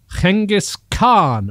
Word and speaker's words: Genghis Khan: was once led by the famous or infamous genghis khan as i was told how to pronounce it when i was in mongolia one